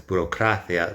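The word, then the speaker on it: burocracia: Uh this word does not. It's borocia. The strong syllable is ah burocthia.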